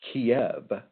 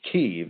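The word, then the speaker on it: Kyiv: And by the way, just so you know, it's it's not pronounced Kiev, it's pronounced Kev.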